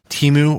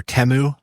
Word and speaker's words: Temu: Temu sounds like Shamu to me. It conjures a killer whale, in my opinion. But okay. Yeah, and Temu also sounds more like foreign-y, where Temu sounds fun and Americanized.